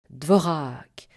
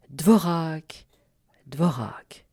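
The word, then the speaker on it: Dvořák: Vous commencez par vous exercer uniquement à la syncope sans vous préoccuper du R. Dvorak. Dvorak dvorac. Puis vous prononcez le R à l'italienne, c'est-à-dire avec le bout de la langue contre les alvéoles supérieurs. Dvorak, dvorac, dvorac.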